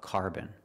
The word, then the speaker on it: carbon: going to talk about carbon pronunciation carbon car like car and far and boom with a short sound like cup and up carbon this dress is on the first syllable this is not carbon